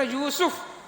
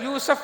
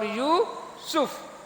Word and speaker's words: یوسف: یونس اور بھائی یونس بات سننا، اس طرح یوسف سین کے اوپر پیش ہے، بہت سارے یوسف پڑھتے ہیں اس کو، نہ یہ یوسف ہے نہ یہ یونس ہے، دونوں جگہ پیش ہے، یونس اور یوسف۔ قرآن مجید اگلی صورت